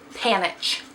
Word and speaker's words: Panitch: damage done by Amanda panteth panic panic I don't know why I can't say her freaking name something's wrong with me today can't speak English anyways panitch that's how you say it I believe it's